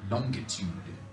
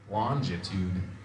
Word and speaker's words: longitude: Ken told me there's a hard G in that word, longitude. And I was always under the assumption that it was longitude.